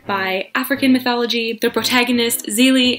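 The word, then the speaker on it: Zélie: The protagonist, Zelie, I think it's pronounced Zelie, not Zelly, I forget, but she's great,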